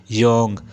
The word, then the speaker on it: Jung: अच्छा याद कर लो, JUNG, योंग। बहुत से जाहल इसे जंग पढ़ते हैं और कुछ जोंग।